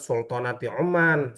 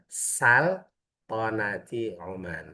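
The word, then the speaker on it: سلطنة عمان: Latihan MC sama orang Oman salah bukan nyebutannya bukan sultanati Oman salah ente negara mana kata dia tapi yang benar saltati Oman.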